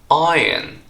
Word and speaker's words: iron: say it should be Iron not iron because the r here is silent but I didn't know